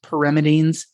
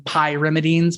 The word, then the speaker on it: pyrimidines: I know it's pronounced pyrimidines, but I always pronounce them pyrimidines because I think it's easier for students to hear and it's easier for this mnemonic.